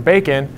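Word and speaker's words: BACN: And so they came up with this term bacon, based on Canadian bacon, and I don't remember exactly the connection, but you can look it up on Wikipedia. It's spelled B-A-C-N, and they registered a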